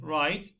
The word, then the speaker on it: right: And old, right, gh. Usually we don't pronounce, we say right, wrong.